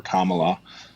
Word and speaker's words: Kamala: that by voting for Trump or voting for Kamala um did I say it correctly comma yeah